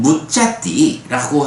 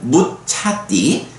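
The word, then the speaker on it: muccati: 그 제가 표시를 했습니다만은 무짜띠라고 하면 이제 자유로워지다 이런 말인데 무짜띠로는 좀 해석이 애매하고 거기에 보면 무차띠, 그러니까 짜가 아니라 차로 발음되는 무차띠로 읽으면 이제 적절하게 번역이 되는 걸 볼 수 있어요.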